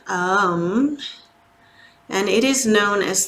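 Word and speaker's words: Aum: manage life's daily challenges home is the most common chant that you've probably heard of it's actually pronounced a-u-m um and it is known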